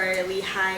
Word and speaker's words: Lehi: I used to pronounce Nephi as Nephi or Lehi as Lehi, and I think that's because of like the Spanish kicking in.